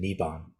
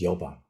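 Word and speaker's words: 열반: And for a while there, I was mistakenly saying Niban, but it's Yoban in the Sino-Korean.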